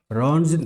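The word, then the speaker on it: Röntgen: हाँ, ये मैंने स्पेलिंग गलत लिख दी है, RONTGEN, रॉन्जन रे।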